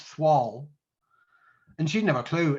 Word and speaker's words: thwall: of northeast yorkshire slang i think it's spelt t h w a double l so it's not foul it's thwall and she'd have a